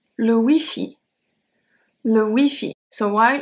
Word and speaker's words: Wi-Fi: So while it's exactly the same, even though we don't have the dash, the pronunciation is very different because we don't have the Y in French. We only have E.